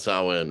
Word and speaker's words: Samhain: the original Halloween and Pagan tradition is called sa in right okay cool so is that like like